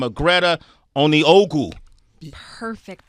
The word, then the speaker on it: Onieogou: She goes by the name of Greta Onieogou. Perfect pronunciation.